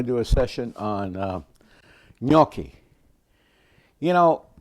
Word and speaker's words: gnocchi: Uh, today I'm going to do a session on Uki. You know, I grew up thinking was spelled with an N. N O O, but it's a GN.